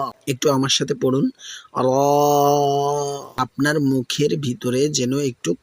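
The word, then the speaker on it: ر: র এতে কোন নুক্তা নেই। এর মাখরাজ হল জিহ্বার আগার পিঠ। তার বরাবর উপরের তালুর সঙ্গে লাগবে। এটি কিন্তু একটু গম্ভীর ও মোটা করে বলতে হবে। র একটু আমার সাথে পড়ুন।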